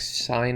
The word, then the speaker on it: sin: of x equals 8x sine of x now this is a kind of a weird one in this formula s-i-n is pronounced sine and that's the trigonometric